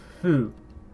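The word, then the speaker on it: ふ: Instead, we say fu. And yes, that is what that is in English. Please, I can't really say. It is a character, okay? It's just a sound. Fu. That you pronounce this as fu.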